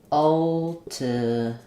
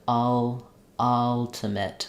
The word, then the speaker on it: ultimate: really saying altimate but you're probably opening too far and you have too much tension in your first um stressed syllable when the vwa is